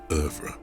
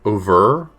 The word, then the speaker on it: oeuvre: I feel like in my head I've been pronouncing it like more like over.